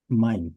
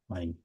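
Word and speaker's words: mein: So in German, Ei. Ei is um pronounced as I I. That's how it's pronounced. This ei. Yeah. pronounce as I. So that's why it's mine.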